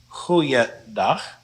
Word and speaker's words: goeiedag: All of these can now be pronounced goeiedag, goeiemorgen, goeiemiddag, goeieavond, and goeienacht.